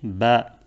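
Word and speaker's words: بَ: Quand on met la Fatha au-dessus de la lettre B, la lettre elle va se prononcer Ba. C'est-à-dire la Fatha, elle a le son A.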